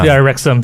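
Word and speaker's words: Wrexham: pronounce m i think is it rexim yes so rexim so not really it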